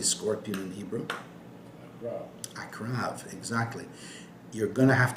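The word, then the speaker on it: עקרב: Akrav, exactly. You're going to have to know this word. Ayin, Kuf, Resh, Bet. Akrav.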